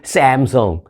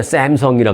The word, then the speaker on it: 삼성: 전까지만 해도 삼성이라 그러는데 요즘은요 샘성 하는 사람들도 많이 없어요 요즘은 미국 사람들도 삼성 뭐 안 되면 삼성이라 하든지 삼성이란 우리 한국식 발음을 하는 걸 그들도 당연히 그렇게 해야 하는 것으로 생각하고 있습니다 자 어찌됐든 삼성전자 등 그